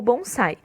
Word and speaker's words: bonsai: A versão deles, que antes era chamada de Hachiue ou outros termos, foi renomeada como bonsai, a pronúncia japonesa do termo chinês penzai.